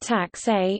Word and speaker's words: Taxe: Tax, pronounced tax a, is a German word meaning tax, charge, or scale of charges.